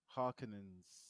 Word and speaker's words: Harkonnen: Is that how do you say their name again? The The Harkonnen? Harkonnens. Harkonnens, isn't it? Alfan, Harkonnens, Yeah.